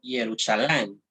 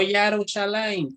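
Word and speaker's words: ירושלים: Este nombre, ¿cómo se pronuncia en hebreo? Yerushalayim. ¿Ya? No Yarushalayim, como dicen los mesiánicos.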